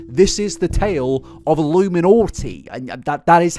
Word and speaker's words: iilluminaughtii: It is irony to the absolute maximum, but yes, this is the tale of iilluminaughtii, and that is how you pronounce the name, okay?